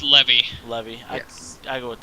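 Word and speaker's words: Lévy: And then Raphael Leve moving up 3 spots, 22nd to 19th. So It's Levy.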